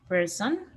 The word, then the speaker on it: person: Person. Exactly. So it's like person, directly to the R, person.